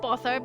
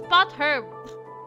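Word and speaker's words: potherb: It's not purb. It's pot herb.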